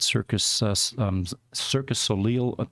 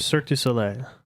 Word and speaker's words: Cirque du Soleil: One of them a few weeks ago was working at Cirque Soleil. He pronounced it. Cirque du Soleil.